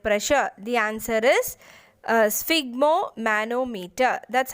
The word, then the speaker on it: sphygmomanometer: the measuring blood pressure the answer is uh sphygmomanometer that's how you pronounce this uh so it consists of inflatable